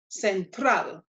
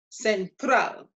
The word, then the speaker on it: central: pronouncing the word we need to identify where we put our stress so we check the end of the word and we see the letter L and it's not one of our seven letters therefore means that the stress is going to be on the last syllable which is the trap and so this becomes central central central and there are many